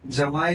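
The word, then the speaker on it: jamais: उसको जमाई भी बोलते हैं। Okay spelling J ए आई एस होता है। एस सब्लेट है तो जमाई भी बोलते हैं उसको फ्रेंच वर्ड्स है ये सब।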